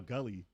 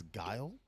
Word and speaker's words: Guile: call Guile Gully Yeah, because Gully. I Me was too. completely wrong. I never knew how to pronounce that when I was younger. I was like, oh, Gully. that's Guile?